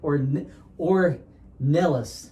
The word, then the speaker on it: Ornelas: i'm really excited to have with us or or nellis did i say that right yes you did